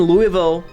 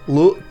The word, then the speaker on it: Louisville: So, um, uh, based in Louisville, Louis, I was told you can't say Louisville. Not even that. You have to say the less syllables you have, the better it is.